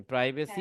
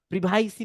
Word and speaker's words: privacy: হ্যাঁ, প্রাইভেসি হ্যাঁ। পলিসি, POLICY পলিসি। এটাকে আবার কেউ মহামান্য লোকজন আবার প্রিভাইসি পলিসি বললেন না কিন্তু, অনেকে কিন্তু বলে, শুনছি প্রিভাইসি পলিসি। উচ্চারণ সঠিক করতে হবে, প্রাইভেসি পলিসি।